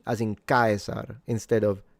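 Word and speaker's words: Caesar: And then when it comes to the pronunciation of the C as in Kaisar instead of Chzar for instance, which is the ecclesiastical Latin, the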